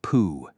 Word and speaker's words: PoH: The man's name was spelled PoH, but pronounced Pooh.